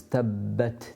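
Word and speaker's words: تَبَّتْ: Obviously the Ba has a shadda on it, so we've got 2 Bas to pronounce.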